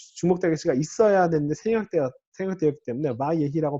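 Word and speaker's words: וַיְהִי: 바예히 요런 경우에 이거를 바이히라고 발음할 수도 있잖아요, 그죠? 단모음 다음에 쉐바가 나올 때 바이히라고 발음할 수도 있으니까 여기에 원래 메텍을 써주는 게 원래 기본인데 잘 안 써져요.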